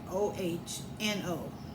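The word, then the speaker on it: Ono: in the plane of oh no." But they thought to do me harm. So notice oh no is spelled o n o, but I say o h n o. Like oh no.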